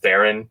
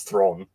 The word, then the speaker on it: Theron: some interview and apparently everyone said it's Proust throne is how you say her last name it's not Ferran it's throne it's still third to